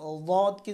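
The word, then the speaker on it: ض: তো আমরা দকে যদি দদ অথবা জদ বলি তাহলে কিন্তু উচ্চারণ হবে না।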